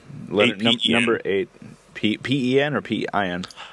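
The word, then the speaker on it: 8pen: In Utah, we pronounce it pen. Yeah, I know. I've got a lot of flack over that. No. We live in different parts. Tony would pronounce it differently because he lives way over there. Yeah. So 8-pen is how we pronounce it. In Super Carolina, P-E-N and P-I-N are pronounced exactly the same.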